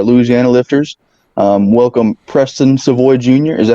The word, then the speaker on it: Savoy: one of our Louisiana lifters um welcome Preston seavoy Jr is that how you say it yes